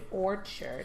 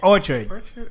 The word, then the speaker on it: Orchard Street: I said Orchid. Orchard. Not Not orchid. That's a flower. I mean, Orchid is ID. Orchard. That place. Orchard. Like an orchard of trees, of apple trees.